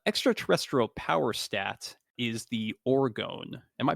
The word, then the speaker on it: orgone: so the uh extraterrestrial power stat is the orgon am I pronouncing that correctly I didn't actually look up the pronunciation yeah orgone orgone and this stat represents their life force